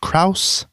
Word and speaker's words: Krause: The cinematography is by George Krause.